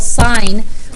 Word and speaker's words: sine: It's not sin of A. It's still sine. We just don't write the E. We just shortcut everything to 3 letters. Okay? So you will not say this. You will not pronounce it sin of A. It's still sine of A.